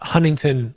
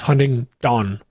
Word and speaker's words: Huntingdon: I specify that because it's not Huntington like the beach. It's Huntingdon, D-O-N.